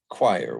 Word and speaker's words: choir: them are pronounced oyer we've got noir and memoir where they're pronounced to mark their french origin and then we've got choir which for some reason has an i sound instead of an oi sound okay so now all